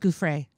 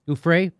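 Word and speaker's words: Giuffre: new york and jimmy i think it's pronounced gouffrey ufray thank you in questioning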